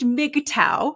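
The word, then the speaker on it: MGTOW: So then you wind up with almost a further subset of those guys and they are called, it's pronounced MIGTOW.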